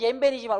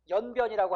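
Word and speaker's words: 옌볜: 원칙은 옌벤이지만 우리가 뭐라고 하고 있어요? 연변이라고 하는 거 하고 있잖아. 그치? 한자음 연변을 허용한다.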